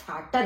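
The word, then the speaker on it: Vater: मान लीजिए आपका जैसे ये है कि वाटर, अब वाटर VATTER है मान लीजिए, तो उसको हम फाटर बोलेंगे।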